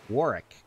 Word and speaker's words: Warwick: Like, no, you don't pronounce the second W. It's Warwick.